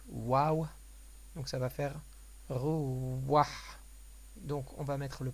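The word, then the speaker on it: רוח: après le premier de rouah et on va prononcer le vav à l'oriental, donc waouh, donc ça va faire rouah.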